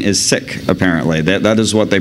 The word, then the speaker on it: Sikh: Sikh Gurdwara oh I'm sorry I'm still saying seek the proper pronunciation is sick Apparently that is what they prefer um they